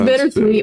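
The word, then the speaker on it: Bittersuite: yeah crack number nine bitter suit sweet oh it's bitter sweet it's just spelled differently yeah it's spelled like the sweet like a like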